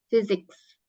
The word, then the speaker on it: physics: Oh fisika fisika fisik jadi P ketemu H itu baca fisik fisik fisika fisik bacanya physics ya fisika artinya nah kemudian